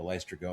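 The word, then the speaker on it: Laestrygonians: I will never pronounce it correctly. The Lystragonians.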